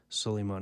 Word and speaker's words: Suleiman: Am I saying that right? Pronouncing that? Yeah. Suleiman, Sullymon. Yep.